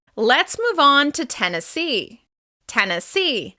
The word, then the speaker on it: Tennessee: Tennessee. As you can hear, the stress is on the final syllable of this word.